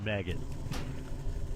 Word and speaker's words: Maged: His name was Maged, which pronounced maggot.